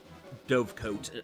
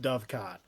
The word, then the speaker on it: dovecot: taken find them search every den and day Dove coat if you must please somebody fire the player we must summon the deleted his own sister someone anyone it's pronounced dovecot yeah what does that word mean I don't